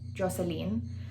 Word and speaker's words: Jocelyn: to be very specific my first name is actually pronounced joseline joseline the reason why joseline stuck is because all my teachers pronounce my name joseline instead of joseline and it just kind